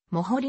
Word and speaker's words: Moholy: であるので実際の発音はもうホリーも掘りである基本的には